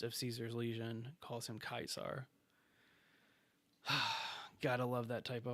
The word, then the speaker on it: Caesar: is the fact that they call Caesar kaisar because of how the name is spelled and only Caesar himself